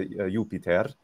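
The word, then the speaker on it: Iuppiter: the pater the father yupiter yupiter is normally how it would be so yeah with a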